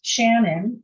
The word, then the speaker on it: Shanyn: It's Shannon, and that's spelled SHANYN at 2020 seedlabs.ca.